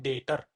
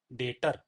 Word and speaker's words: debtor: अब यह है भैया इसको हम इसमें बी जो होता है वह साइलेंट होता है। इसको हम बोलते हैं डेटर। डेटर।